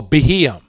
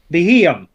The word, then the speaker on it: Beheeyem: Oh, Beheeyem. Beheeyem. Yes. So Beheeyem comes into the frame, and when the Beheeyem comes over into the frame, it's recording what's going on between Hamber and Amethio.